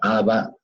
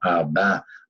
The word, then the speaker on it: Abba: Algunos la pronuncian como Abba, otros la pronuncian como Abba. A mí me gusta más la segunda porque es como decirle papá, papá.